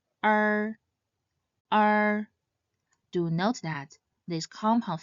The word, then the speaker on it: er: The last compound final is R. It should not be confused with the basic final uh this compound final starts with the sound and should end with a curved R sound similar to the sound a pirate might make.